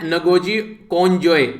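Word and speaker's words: Ngozi Okonjo-Iweala: तो यहां पर इनका जो नाम है ये है नगोजी कोंजोय, जो यहां पर ये ओ है ये साइलेंट रहेगा, इवला, ठीक है।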